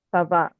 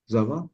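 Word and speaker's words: ça va: Sava Wi Sava eh zava Wi zava em bukan Za sa sa eh sav sa c c ya jadi C ini ee ada ekornya supaya c-nya kebaca S Sava zava zaava sa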